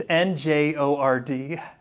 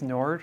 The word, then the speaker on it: Njord: It's Njord. I think it's Nord, right? Njord?